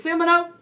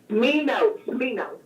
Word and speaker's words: Smino: Wild Irish Roses by, what you say his name is? Semino? Smino. So why you got that S on? Listen, artists are creative. I can't. Just stop. We're taking the creativity too far. Got silent S's, silent 6's.